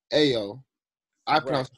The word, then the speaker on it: Ayo: so you would say IO IO is pronounced AO I but if I couldn't